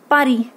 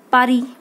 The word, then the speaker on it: Paris: Now this is pronounced Paris. Okay? Paris.